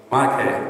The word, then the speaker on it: Mauna Kea: It's hard to pronounce... Someone in the audience: Mauna Kea. Mauna Kea.